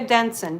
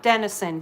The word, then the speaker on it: Denson: But Jessica Denson, D-E-N-S-O-N, not Denison, D-E-N-S-O-N.